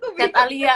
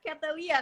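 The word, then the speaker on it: ChatAlia: Terus kemudian sekarang lagi membangun bacanya Katalia atau Chat Alia sih? Chat Alia. Oh, Namanya kesusahan ya, Chat Alia. Chat Alia ya. Iya, kadang ada yang baca Catalia kan kalau Iya. misalnya Inggris gitu.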